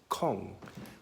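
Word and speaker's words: konge: so funny thing is the word King and Danish is pronounced calm so can you imagine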